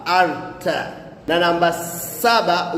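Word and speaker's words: altı: Na namba sita utamkwa Arta.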